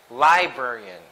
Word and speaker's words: librarian: I'm sorry librarian librarian if it's library if you referring to the word library so the stress is in the first syllable but for a person who manages the library is a librarian is that light it's not librarian its librarians for the stress is in the second syllable the Burke librarian okay